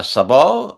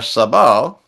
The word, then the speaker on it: sabot: Uh, a shoe is a uh sabo or maybe sabot. I think it's sabot sa b o t, but you don't pronounce the t.